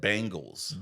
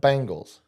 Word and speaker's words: Bengals: Tell me one more time how to properly say it. Bengals. Bengals. There you go. Bengals. That's how you say it.